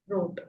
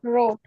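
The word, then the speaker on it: rot: R T is it is pronounced road. Road.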